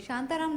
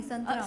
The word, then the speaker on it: संतराम: शांताराम नहीं है, संतराम।